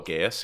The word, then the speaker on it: geas: there's how do you pronounce it? Geas, Geos? Oh, Gaius, yeah.